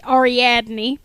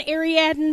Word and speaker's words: Ariadne: thrown in there okay Arie uh is actually pronounced ariadne I'm aware of that I know I'm mispronouncing my own name because I like the pronunciation aradin better um AR actually comes from Greek